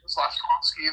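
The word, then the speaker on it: Slafkovský: Slavkovsky, that's how you pronounce his name.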